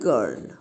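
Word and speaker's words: girl: But here G-I-R-L, G এর পরে এখানে আই আছে তাহলে এখানে জ হওয়া উচিত ছিল, কিন্তু এটা হচ্ছে এক্সেপশন, তাই এর উচ্চারণটা হয় গার্ল।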